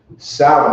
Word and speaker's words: Samhain: we're gonna get into salad samhain is how it's spelled but sour that's what it is you know what i'm